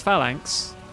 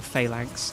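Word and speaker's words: Phalanx: Anyway, uh here's Falank um or Failank depending on how you want to pronounce that.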